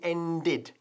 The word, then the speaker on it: ended: El verbo to end, por cierto, como acaba en D, pues aunque sea regular, hemos de pronunciar la ed al final. It had already ended. Y pronunciamos como si fuese id, y latina D. Ended, ¿ok?